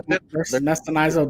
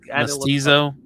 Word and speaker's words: Mestizo: If I'm pronouncing these wrong, just bear with me. You're all Mestinizo Dynasty, is that what it says? Yep. Yeah. I had to look. Mestizo Dynasty?